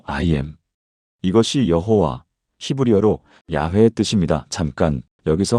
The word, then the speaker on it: 야훼: 학술적으로 원래 발음에 가깝다고 보는 것이 야훼.